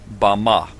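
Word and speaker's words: בָּמָה: in the Strong's Hebrew dictionary and it is pronounced Bama Bama is most commonly used to refer to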